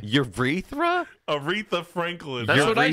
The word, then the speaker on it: Aretha: what'd i say urethra aretha franklin that's what i said wreath reference uretha no i said it right you're read that frankie it's aretha that's what i said aretha on a dmca